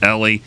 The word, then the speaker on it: Ellie: His name's Ellie. It's not Eli. It's Ellie. Ellie.